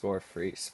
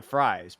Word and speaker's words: Fries: Initially, people probably thought, and I thought this, too, it was Fries, but no. Yeah, it's free. I I wish that my last name were pronounced fries.